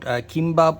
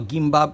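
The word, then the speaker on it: 김밥: So when you talk about kimbap or gimbap, whichever version you prefer to pronounce, basically you are to know that it's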